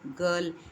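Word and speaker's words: girl: ஆங்கிலத்தில் world கேர்ல் என்ற வார்த்தைகளில் ஆர் என்பது சைலண்டாக இருக்கிறது. இன்னும் பல வார்த்தைகளிலும் வெள்ளையர்கள் ஆரி என்பதை மழுப்பலாக மழுப்பி கொண்டுதான் பேசுவார்கள்.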